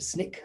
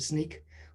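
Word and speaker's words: Snyk: so uh i've joined sneak sneak don't worry about the pronunciation some people call it snick some people call it sneak we actually have an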